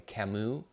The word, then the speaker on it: Camus: read an author like a camu and that spelled see a mus I used to mispronounce